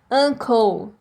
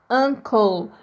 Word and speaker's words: uncle: tio arrancou tá esse e a gente não pronuncia tá a gente termina com o som The L ta uncle tá uncle esse o tem um som de a uncle